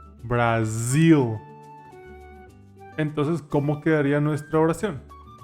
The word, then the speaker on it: Brazil: un país Cómo se dice Brasil en inglés brazil brazil entonces cómo quedaría nuestra oración I am in